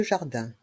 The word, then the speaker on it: jardin: Dans le mot jardin, le I et le N se prononcent un.